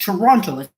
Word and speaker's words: Toronto: Actually, the more Also, by the way, people, the sheeple Toronto is pronounced Toronto.